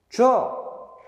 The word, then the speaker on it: 줘: 자, 어떻게 해야 돼? 주는 그대로 적어. 그 다음에 어를 초성의 이응은 소리값이 없으니까 이렇게. 줘. 줘.